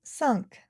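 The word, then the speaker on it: cinq: Five in French is sunk. Sunk. Uh note one thing that I and N in French are called nasal vowels and the sound uh is formed as uh uh sunk.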